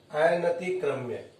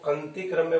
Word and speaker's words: अनतिक्रम्य: अनतिक्रम्य, बहुत से बच्चे या बहुत से लोग इसको अंतिक्रम्य बोलते हैं, जो गलत उच्चारण है।